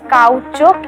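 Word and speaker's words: caoutchouc: the weirdest word i have come across is cow choke it's spelled as c-a-o-u-t-c-h-o-u-c hi shivali hi so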